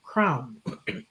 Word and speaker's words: CRWN: Crown. Charity is a former executive recruiter and career coach. She uses her experiences to guide organizations and executives to with her crown model of self leadership framework.